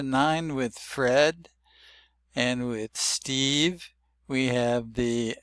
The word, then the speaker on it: Steve: So does Steve has a silent letter E on the end, but it shows that the E is long. It's not Stev, it's Steve.